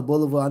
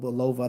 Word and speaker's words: Bulova: I mean, because I was looking at the I call it Boulevard. I know some people call it Bulova. I think that's the correct pronunciation of it.